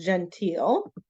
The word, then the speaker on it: genteel: This word here is pronounced genteel.